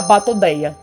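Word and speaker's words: Batoidea: Então vamos para a superordem das arraias, que é a Batodeia, assim que se pronuncia.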